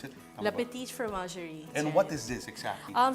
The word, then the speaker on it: La Petite Fromagerie: How do you pronounce it? La Petite Fromagerie.